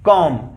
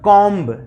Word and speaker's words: comb: यानी कि एज a example COMB, कॉम, note कॉम्ब, COMB, कॉम। अगर हम लोग इसका प्रोनाउंसिएशन गाइस कॉम्ब करते हैं तो ये गलत हो जाएगा, इसका प्रोनाउंसिएशन हो जाएगा